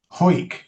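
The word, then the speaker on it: Hawick: a disappointment to you, the pronunciation of that Scottish name, H A W I C K, is Ho. Yes. Ho.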